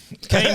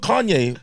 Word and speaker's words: Kane: Kane Brown as well, who's joining us. Kane. Kanye. Kane Yeah. Brown. But I've been called Kanye by white people before.